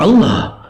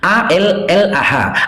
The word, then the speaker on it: Allah: Tak boleh bacanya Allah, karena cuman abang-abang kan memplesetkannya jadi Allah. Kami harus membacanya Allah. Allah.